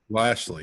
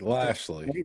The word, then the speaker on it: Lashley: how do you say it again Joe lei Lashley nice Lashley lastly at 25 under got in the field